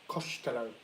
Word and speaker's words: Costello: Um Yeah, uh but my my surname is actually um Costello. But it's pronounced Coshtello, not Cost- When I say oh when I say my surname is Costello, they're like, "Oh, Italian."